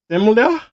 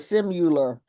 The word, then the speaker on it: similar: Uh, similar. Yes. And you pronounced it correctly. Good for you. Some people call it simul, but notice it has an I and not a U in it.